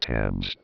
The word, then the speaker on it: Thames: star like Florina James what in the world is James that's pronounced Thames yes that English television